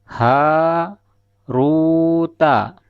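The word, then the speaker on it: هَارُوتَ: Dibaca sebagai haruta, ha diucapkan panjang dan ru juga diucapkan panjang. ta itu pendek. Karena ha memiliki alif di depannya seperti yang sudah kita ketahui, ro juga dibaca panjang karena ada sukun wau di depannya.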